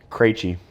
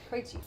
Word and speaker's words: Krejci: this is Blake Ola how do you say your last name properly Cree Cree so we have our